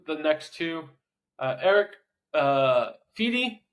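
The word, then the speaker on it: Fedde: next two Eric uh fi or fedy I believe is is how we say his name and I apologize because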